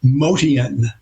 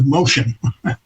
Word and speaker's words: Motian: We used to pronounce his name in his native uh heritage. Motian. That's how you we said his name back then. But through the years it got changed to motion.